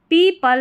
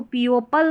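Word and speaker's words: people: पीपल, इसको पीओपल नहीं पढ़ना है, पीपल हु।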